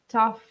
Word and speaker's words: tough: GH is pronounced like an F. So words like enough, tough, cough Hmm. are pronounced similarly.